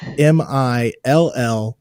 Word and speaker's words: Millhiser: So that's Millhiser.